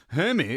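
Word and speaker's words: Jaime: name and he's been Jamie for forever. And some Spanish-speaking person was like, hey, well, technically it would be pronounced Hemi if we were in Mexico.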